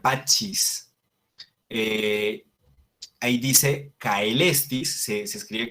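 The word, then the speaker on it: pacis: Pax, pachis, se pronunciaría pachis.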